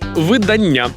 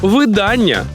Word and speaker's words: видання: і Дехто з вас видання а от словник каже видання уявляєте і Я йому вірю видання не може цього бути видання видання видання на всі наголос зафіксували у слові видання наголос на букву а видання мінус та зарано